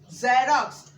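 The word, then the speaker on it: xerox: अब जब हम वो प्रोनाउंस करेंगे ज, ज़ेरॉक्स, ज़ेरॉक्स, फिर क्या है?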